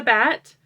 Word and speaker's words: batt: If you're not familiar, this is a bat. It's spelled B-A-T-T, so it's bat but with 2 T's.